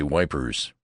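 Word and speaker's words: Ypres: them a question about ipreeze for I pronounced the name French fashion which put me under suspicion as a swanker don't try to come at son he says say wipers that's what we calls it henceforth it was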